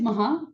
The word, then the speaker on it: Maha: so my name is Maha M ah ha a uh you pronounce the h I say this because